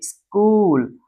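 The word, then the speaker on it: school: तो ध्यान दीजिएगा यहां पर सीएच में जो होता है एच जो होता है इसे नहीं पढ़ते क्योंकि ग्रीक ओरिजिन है। सीएच ग्रीक ओरिजिन में सीएच को क पढ़ते हैं। इसे पढ़ेंगे स्कूल।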